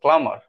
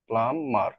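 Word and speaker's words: plumber: প্লামার। প্লামার এটার উচ্চারণ কিন্তু প্লামার। হ্যা প্লামার। বা প্লামার। শুধু প্লামার। প্লামার না বিটা উচ্চারণ হবে না।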